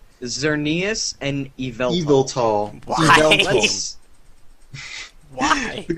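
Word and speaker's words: Xerneas: That's Xernius. Xernius is Xernius is a bit easier than Evel.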